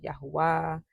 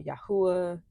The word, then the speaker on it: Yahuah: Some pronounce it Yahweh. Others, like I have for many years, pronounce it Yahuah or Yahuah.